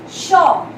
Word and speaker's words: chat: Shaw. Here T won't be pronounced because the consonant comes in and can never be pronounced. So we pronounce it like shaw.